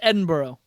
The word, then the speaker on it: Edinburgh: it's oh it's so it's spelled edenburg yeah in borough um and i'm supposed to pronounce this edinboro yes um yeah i